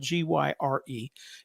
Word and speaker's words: gyre: referred to as the ocean gyre it's spelled g-y-r-e it's pronounced gyre and the gyre is uh there